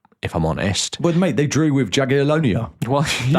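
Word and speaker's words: Jagiellonia: Well, mate, they drew with Jagalonia. That's actually the pronunciation.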